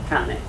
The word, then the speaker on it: cane: But in Italian we pronounce cane, not cane.